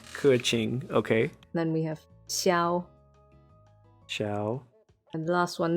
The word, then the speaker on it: Xiao: wait what kuching kurching okay then we have xiao xiao and the last one nobody spells his